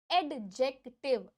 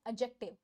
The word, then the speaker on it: adjective: इसकी pronunciation एडजेक्टिव नहीं है। यस, मैंने स्टार्टिंग से अभी तक आपको एडजेक्टिव बोला था, मे बी आपको सुनाई नहीं दिया होगा क्लियरली। मैं आपको क्लियरली इसीलिए प्रोनाउंसिएशन पे फोकस करके आपको बता देती हूँ कि प्रोनाउंसिएशन एडजेक्टिव, एडजेक्टिव नहीं होती। यस, इसकी प्रोनाउंसिएशन, करेक्ट प्रोनाउंसिएशन है एडजेक्टिव, एडजेक्टिव, एडजेक्टिव। यस, ये जो डी होता है ना, ये साइलेंट होता है।